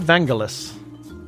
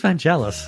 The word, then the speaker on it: Vangelis: And then we have Vangelis.